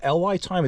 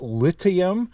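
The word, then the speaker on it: LiTime: Okay, and this video has a sponsor, and it looks like it's called LY Time. It's actually pronounced lithium, as in lithium battery.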